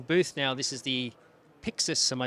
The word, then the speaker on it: PYXIS: the Blackmagic design booth now this is the pixus am I saying it correctly that's right yeah